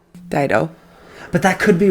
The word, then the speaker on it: Dido: White Flag was recorded by Dido. Dido.